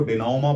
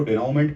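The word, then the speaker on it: dénouement: ये एक actually French word है। इसको डिनोमा बोलेंगे। यह जो वर्ड आप देख रहे हैं यह फ्रांस से लिया गया है। इसीलिए इसकी जो प्रोनंसिएशन है या उच्चारण कह लीजिए आप वो बिल्कुल अलग है।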